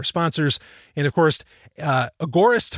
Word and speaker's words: agorist: and of course uh agorist hosting I'm going to pronounce it that way agorist hosting a g o r i s t